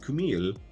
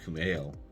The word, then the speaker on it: Kumail: Kumail Nanjiani, I always say his name wrong. Not Kumail, it's Kumail.